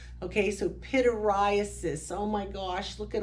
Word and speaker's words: pityriasis: So when I say pityriasis, I always think of me standing here with a black shirt on and the little white flakes are falling like snow on my shoulder, and I'm thinking, everybody needs to pity me because of all these white flakes.